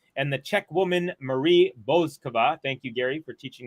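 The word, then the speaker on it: Bouzková: And so the French woman is out, and the Czech woman, Marie Bouzkova, thank you, Gary, for teaching me the correct pronunciation, has made it through to round number 4.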